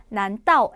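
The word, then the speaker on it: 难道: 설마 a 하는 거예요라는 표현이 나왔어요 중국어로는 난다오 에이마라고 읽습니다 세 번 시작 난 따오 에이마 난 따오 에이마 난 따오 에이마 그런데이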